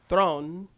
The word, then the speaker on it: Theron: Charlize Theron which is that's how you really pronounce it is thrown from yes her character